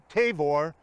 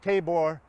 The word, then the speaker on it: Tavor: his ministry behind me mount tavor pronounced tabor in english this was the setting